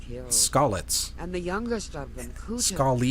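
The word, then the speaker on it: Skalitz: her whole family in scalids hey you're saying it wrong scallet and the youngest of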